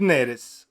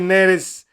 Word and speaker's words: Neres: notizia che sta spopolando da stamattina è David neres o neres credo che si dica neres perché